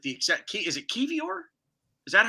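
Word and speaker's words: Kiwior: exact key is it kevior is that how it's pronounced key I know it's like k-i-w-i-o-r I think the W is pronounced like a V it's it's polish like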